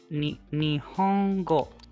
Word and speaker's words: Nihongo: Nihongo o hanashimasu Nihongo. So Nihon is Japan, go is language. So you say Nihongo, Japanese language. O is the particle to Nihongo.